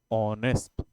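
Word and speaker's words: honest: क्या रहे होते हैं आप पढ़ते हैं ऑनेस्ट इसमें एच साइलेंट रहता है राइट तो अ आ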